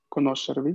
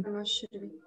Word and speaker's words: conoscervi: No, claro, no es tan intenso, pero, o sea, el acento tónico, o sea, de hecho, recae ahí, ¿no? Es la sílaba que tiene más alta entonación respecto a las siguientes, ¿no?